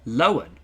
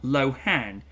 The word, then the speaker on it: Lohan: Many were surprised to know that her name is pronounced Lohan. Oh, and not Lohan.